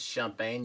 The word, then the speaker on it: Champagne: Number one is the Domaine Colon Cremant, which is a sparkling wine made outside of Champagne. The actual pronunciation is Champagne.